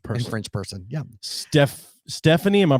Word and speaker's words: Stéphanie: yeah and french person french person yeah steph stephanie am i pronouncing that you got a little thing over the e how is it pronounced uh stephanie okay perfect just making sure we weren't missing